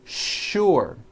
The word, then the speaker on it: sure: is that there are some words in English that are written with the letter s but are pronounced with the sh sound words like sugar and sure and to make things